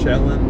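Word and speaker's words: Chelan: So, it's not ch but chillan. Sorry. Chillin. Shellon. Say it with a sh.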